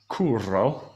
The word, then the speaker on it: Curro: day, who is Curro. I'll pronounce it with the rolled R.